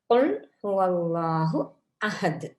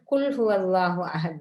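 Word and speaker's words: قل هو الله أحد: தான் நாங்க இங்க சொல்றோம் அப்ப இதை வந்து கா எங்கட தொண்டைக்கு குழியால வர்ற மாதிரி உச்சரிக்க வேண்டும் குல் ஹுவல்லாஹு அஹது அப்ப நபியே கூறுவீராக அவன்தான்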